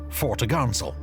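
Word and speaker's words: fore topgallant sail: Her large square sails included the forecourse, 4 topsail, pronounced topsail, and 4 top-gallant sail, pronounced fore-to-garnsail.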